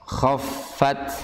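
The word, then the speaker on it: خَفَّتْ: Khaffat bukan khaffat tapi khaffat. Ya, ini saya yakin ketika kita hafalan pasti bunyinya akan bunyi bukan kha tapi khaffat. Ya. Iya, harusnya kha. Berat kha karena dia memiliki sifat isti'la. Khaffat.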